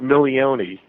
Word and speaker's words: Milione: It's, yeah, you pronounce it Milione. Milione.